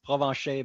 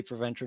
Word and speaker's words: Provencher: In the real pronunciation is Provencher, but you can say Provencher, no problem, if you ever have to say my name.